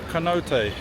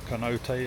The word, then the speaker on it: cenote: Apparently I've been saying it wrong. It's not cenote, it's cenote. So, I'm sure you've all been watching and thinking, what's he saying cenote for?